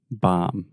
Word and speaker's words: bomb: The B is totally silent. Why do you have a B in this word then? Let's do it. Come on. Bomb. Say mom. Mom. Okay, just mom with a B at the beginning. Bomb.